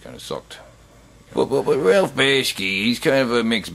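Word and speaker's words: Bakshi: rail basket version yeah i pronounced his name right bash key yeah and uh it kind of sucked you know the animation looked weird and just kind of sucked but ralph bashki he's kind of a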